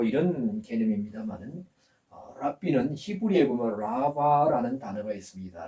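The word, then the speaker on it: רבי: 어 랍비라 그럽니다 랍비 근데 우리는 랍비 랍비 하지만은 사실 여기 표시가 있으면 약간 히 발음이납니다 랍비 랍비 하는데 여튼 라비입니다 제자들이 그 예수님을 가르쳐서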